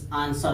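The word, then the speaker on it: answer: अगर यस के बाद डब्लू आता है तो डब्लू साइलेंट होता है। इसे देखिए यस के बाद, यस के बाद आया है, यस के बाद डब्लू हमेशा साइलेंट हो जाएगा, जैसे आंसर हो जाएगा।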